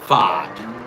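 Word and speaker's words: Pfaadt: Uh, Brandon, how do you pronounce his name? Uh, P. What the hell, man? Whatever speech FOD.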